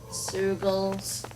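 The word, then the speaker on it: Zeugle: We're basically walking into a Zoogel's den here. Zoogles. Rhymes with Moogle.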